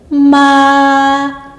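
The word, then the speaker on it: 妈: Le temps est sur la voyelle A et on ouvre bien la bouche et on insiste un peu sur la voyelle A, ce qui nous donne ma.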